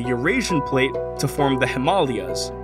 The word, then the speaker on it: Himalayas: Like how the continental Indian plate is crashing into the Eurasian plate to form the Himalayas. Yes, that is how it is correctly pronounced in Sanskrit.